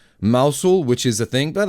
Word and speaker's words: Mousehole: And there's down in Cornwall called Mousehole, but it's pronounced Mousehole, which is a thing.